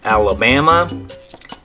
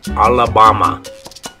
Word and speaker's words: Alabama: In English, it's Alabama. But in Spanish, all those A's are going to make an ah sound. So instead of Alabama, you would say Alabama.